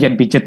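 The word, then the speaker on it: Piaget: Jen pijet Jen pijet Jen peagat bacanya J pijet ya kognitif jadi kognitif itu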